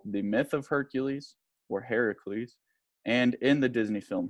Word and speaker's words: Heracles: tried Hercules versus Heracles Heracles is the Greek spelling and pronunciation of Hercules this Hercules right here